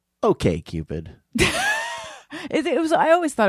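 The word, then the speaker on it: OkCupid: know also who cares it should be pronounced Okay Cupid it was I always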